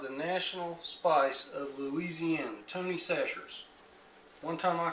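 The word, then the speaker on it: Tony Chachere's: I said, how does Tony pronounce his name? And they said, he says Tony Sacher's. So, it looks like Kachiris, but we call it Tony Sacher's.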